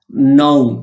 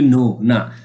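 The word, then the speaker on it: know: দেখতে পাচ্ছি সেটা হচ্ছে ন কে এন ও ডবলিউ ন শব্দের অর্থ হচ্ছে জান আমরা অনেকে এটা বলি ন আমরা এটাকে সুন্দরভাবে উচ্চারণ করব নু শব্দের অর্থ হচ্ছে সত্য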